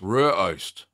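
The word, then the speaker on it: rygeost: Rye Ghost is pronounced approximately as Rur, and then Ost. Rur Ost.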